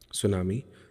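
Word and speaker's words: tsunami: आपदा भी है जिसको आप सुनामी कहते हैं सुनामी की अंग्रेजी स्पेलिंग टी से शुरू होती है संभवत ये होनी चाहिए ठीक है यह विशाल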